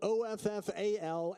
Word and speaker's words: offal: If you don't know what haggis is, it consists of offal, which is spelled O-F-F-A-L and is A-W-F-U-L, offal, suet, oats with a fried egg on top.